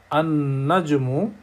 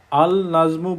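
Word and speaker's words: النجم: অর্থাৎ আন-নাজমু, আলিফের পরে সরাসরি নুন উচ্চারিত হচ্ছে আন-নাজমু। আল নাজমু বলতেছি না, কারণ হলো এই অক্ষরগুলোকে বলা হচ্ছে সান লেটার্স, সোলার লেটার্স।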